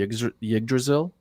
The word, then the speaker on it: Yggdrasil: what we're seeing in the middle here, I think we can all agree is the Adam Tree Yggdrasil, Yggdrasil.